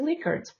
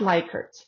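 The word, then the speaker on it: Likert: And remember the correct pronunciation is liquard not liker.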